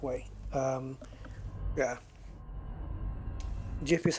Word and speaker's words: GIF: I know it it's it's a g I know that but so is so is giraffe and gems and Gillette and stuff uh but